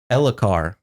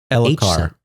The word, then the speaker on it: Elhokar: Elhokar. But there's an H. Elhokar. The H is silent.